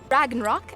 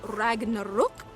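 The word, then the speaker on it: Ragnarök: and where you can dragon rock as you probably know it is actually pronounced Ragnarok is that's as good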